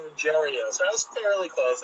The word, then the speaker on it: Ruggiero: It's pronounced Ruggiero.